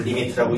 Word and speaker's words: lim: 여기에 점 하나 찍어가지고 리미트라고 읽으니까 그냥 이게 이거구나 라고 알면 될 것 같아. 요 소리 됐냐? 네. 자, 앞으로 리미트라고 할 거고요.